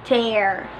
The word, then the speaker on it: tear: love de arte AR sometimes you say tier sometimes we say tear both are correct because this word is an example of a homograph homograph Marisol on the same spelling but different pronunciation and different meanings to helen variety no